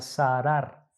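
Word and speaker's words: צרר: Esta palabra de estrechar, hermanos, en hebreo es zarar. Así se pronuncia, zarar. Zarar, como suena tal cual, zarar.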